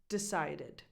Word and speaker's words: decided: And it's pronounced decided. Decided. Id. Now here I am pronouncing that last vowel, but it's just a small schwa. Decided. Decided. To go from the first D to the second D.